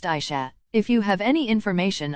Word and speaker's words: Asha: Her name is pronounced Aisha.